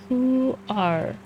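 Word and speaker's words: huar: That's how it's pronounced. who are.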